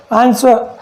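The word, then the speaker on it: answer: W के पहले अगर क्या हो, S हो, क्या हो S, तो वहाँ पर W साइलेंट हो जाता है। देखिए एग्जाम्पल आंसर, अब इसे आंसर नहीं पढ़ते, आंसर पढ़ते हैं।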